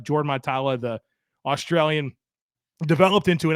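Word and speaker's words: Mailata: his career and then Jordan milala or Jordan my tala I think is how you say his last name mitala Jordan matala the Australian developed into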